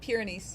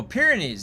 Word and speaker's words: Pyrenees: Pyrenees. Yeah. Oh, Pyrenees. Yeah, I didn't pronounce that right.